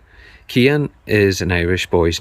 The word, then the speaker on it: Cian: So how do you pronounce this name up here? That's Cian. Cian. Cian is an Irish boy's name, and it means the ancient one or enduring one.